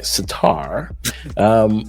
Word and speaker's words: Surtur: So now, Satar, let me say it right, Satar, he was a 3/5.